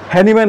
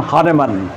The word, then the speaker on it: হানেমান: সেটি সঠিক উচ্চারণ মিয়াজম যেমন আমাদের হ্যানিম্যান হয়ে গেছেন হানেমান এটাই সঠিক উচ্চারণ তাহলে তাহলে আমরা দেখার চেষ্টা আমাদের বাঙালি উচ্চারণে যেমন আমরা হয়ে করে ফেলি সেরকম কথা।